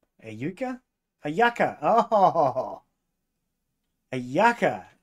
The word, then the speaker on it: yucca: Juka. A yuka? A yucca. Oh, a yucca. It's, why is it spelled with a J this time? It's a Y.